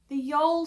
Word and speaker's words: Jeol: The Jeol sweater. It's spelt J-E-O-L, like Joel, but the other 2 are flipped around.